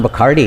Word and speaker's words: Bachardy: I just wanted to say, Don Bacardi is a great artist in his own right. He's a portraitist, and you can, if his name is spelled Bachardy, and you should look